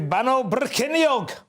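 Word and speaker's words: Bannau Brycheiniog: It's Bano Brycheiniog.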